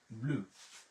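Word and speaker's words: bleu: সেটা হচ্ছে ব্লু, ব্লু, ব্লু।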